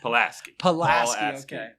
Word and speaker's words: Paulaski: close enough how do you say it pulaski uh which is what what what uh is